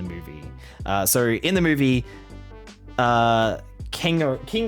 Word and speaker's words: Kingo: So in the movie, Kingo. It's Kingo, I think is how it's pronounced.